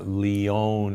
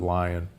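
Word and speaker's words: Lyon: humans which was called The Lion Heart Diet or the Leon Heart Diet l y n but most from Leon France but most people pronounce it lion um there that diet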